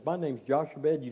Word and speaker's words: Jochebed: I've been going around practicing Jochebed. Trying to make sure I can say it right. Jochebed.